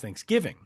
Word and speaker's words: Thanksgiving: it what way, because there are some weirdos out there who are emphasizing the thanks and not the giving. And it's the giving that's the big important part.